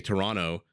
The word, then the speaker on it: Toronto: torontonian uh it's interesting when you say Toronto you don't pronounce the second T right you say Toronto but when you say